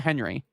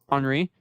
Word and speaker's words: Henri: It's not Henry. Yeah, it's Henri.